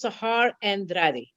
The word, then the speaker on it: Sahar Andrade: Our very special guest today is SAHAR ANDRADE. Now, please tell me if I mispronounced that. Actually, it's correct. It's SAHAR ANDRADE.